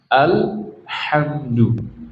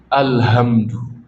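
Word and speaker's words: الحمد: Misalnya baca alhamdu yang benar kan alhamdu. Sebagian kaum muslimin bacanya apa? Alhamdu. Pakai h alhamdu. Kalau orang bahasa belajar bahasa Indonesia kayaknya enggak ada bedanya. Tapi ini bahasa Arab. Alhamdu apa artinya kebinasaan. Alhamdu artinya segala puji. Beda enggak itu?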